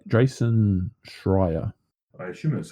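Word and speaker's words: Schreier: you got here for us from J Jason shrier I shouldn't that's how you pronounce it yeah that's how you pronounce it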